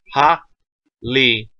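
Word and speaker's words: Harribel: Tia Haribel in English, or Hari with an R, double R in Japanese, which is pronounced with the L's anyway. So, Tia Haribel. T-A. Pretty easy. Tia. T-A. Ha-li-bel.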